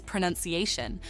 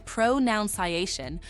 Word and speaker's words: pronunciation: Another tricky word is pronunciation. Some people say pronunciation, but the correct way is pronunciation. Remember, it's like saying pro and nun with ciation at the end.